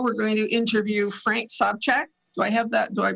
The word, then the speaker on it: Sobchak: Right now, we're going to interview Frank Sobchak. Do I pronounce that properly?